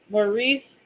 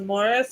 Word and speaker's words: Maurice: M but so like if you accidentally said Maurice but his name was Morris, he would like freaking freak out. But it's like your name is literally spelled like Maurice, not Morris.